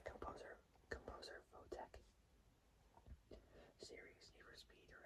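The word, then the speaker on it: Photek: It's like saying the word phone, but taking out the N and the E. next to the E is the letter K. Say composer Votech.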